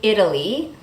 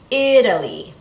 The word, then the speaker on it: Italy: In the word Italy, that's how we pronounce the country, Italy, the T changes to a fast D because the stress is on that first syllable, Italy.